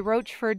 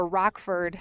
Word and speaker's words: Rochford: six miles up and the roachford trail head is 10 miles that way which is a Rockford um depending on how you say it um so this